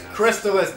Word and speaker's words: Crystalis: what is it or it's Crystalis or I don't even care what happens it's crystallis damn it I run it I get to decide what the name is hey didn't that pronunciation